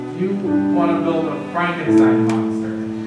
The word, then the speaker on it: Frankenstein: So, you want to build a Frankenstein monster? I believe it's pronounced Frankenstein. I have a feeling that we never really die.